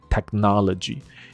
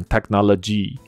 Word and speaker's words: technology: 所以我猜它的 stress 在错的 syllable 上，syllable 就音节，所以 technology 的重音在 na technology，所以它可能 technology 之类的，这样就是